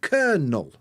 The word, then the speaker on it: kernel: can you can see we've got this long e sound uh which is like the three and then you can see the point in the middle that shows that we've got two different syllables and there's a little apostrophe before the first one that means that's the stress so kernel kernel like that going back to what